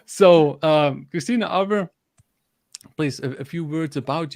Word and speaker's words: Arber: So hi there, my name is Arber. In Albanian, it's pronounced Arber, just to confuse the audience a little more.